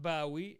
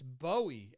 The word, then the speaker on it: Bowie: answer is david bowie it's not bowie it's bowie as in the bowie knife so mick wall always